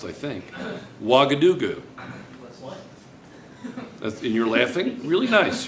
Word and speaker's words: Ouagadougou: And this is correctly pronounced, I think. Ouagadougou. And you're laughing? Really nice. You're really nice. You know? And the capital of Jordan is Amman. Okay, so now, it's Ouagadougou.